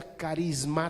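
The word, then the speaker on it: χάρισμα: don es significa regalo viene de una palabra griega que que se pronuncia carisma está o carisma por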